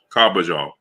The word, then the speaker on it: Carbajal: Carbajal.